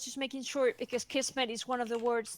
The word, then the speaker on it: kismet: i that's a small correction it's with key kismet kismet is Turkish and it does mean fate